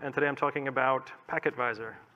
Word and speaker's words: pktvisor: today i'm talking about pack advisor let's pronounce pac advisor the talk is deep